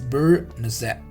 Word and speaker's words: beurre noisette: The pronunciation of this is beurre noisette.